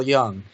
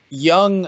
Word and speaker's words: Jung: another big big person for me is Carl Jung okay and I mean writing that down yeah it's spelled ju in G Jung he was you